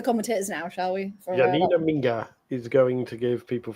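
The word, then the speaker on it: Minge: squad, Germany's number six, her surname is not pronounced the way you think it is. It's pronounced Minga, right?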